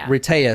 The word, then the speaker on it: Rehtaeh: few times cuz it took me a while Reta so it's Heather spelled backwards but you you'll see